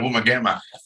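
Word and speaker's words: Woomargama: eating out Mars but when you first see this it says W double o m a r g a r m a and you go um it's nowhere close the sound what it is it's a woman gamma oh yeah yeah that's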